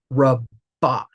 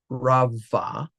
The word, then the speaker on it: Rabbah: second to last syllable, it most likely will be hard as well, which means Rabbah, not Rava, is how you would pronounce that word.